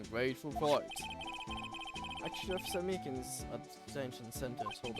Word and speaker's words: Meekins: Actually, Officer Meekins at the detention center told us. Ah, that poor little doggy. Poor guy, I keep getting his name wrong and calling him Mickey.